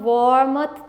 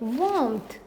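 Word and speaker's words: warmth: हम वॉर मत तो नहीं कहेंगे, वी प्रोनाउंस इट वार्मथ। तो यहाँ पर इसका आर उतना स्ट्रेस्ड नहीं है जितना कि यहाँ पर हम इसको क्लियर प्रोनाउंस कर रहे हैं।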